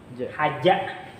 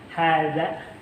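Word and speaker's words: هذا: Nah, beda dengan ini haja. Ja ini za. Nah, jadi ini bedanya hadza.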